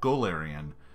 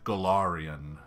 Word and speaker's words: Golarion: So, Golarion, we generally call it Golarion, but he said Golarion, which is very different.